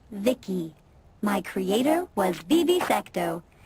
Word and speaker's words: VI: transistors by the way I'm VI I I pronounced Vicki my Creator was BB secto he's what you humans would call A Healer or maybe a repair person yep I'm VI pronounced Vicki came out here to